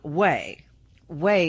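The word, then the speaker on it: Ouai: a pet shampoo from wey wey is spelled by the way o u AI hair care products the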